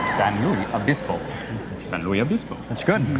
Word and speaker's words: San Luis Obispo: He's with his advisors learning to pronounce San Luis Obispo. San Luis Obispo.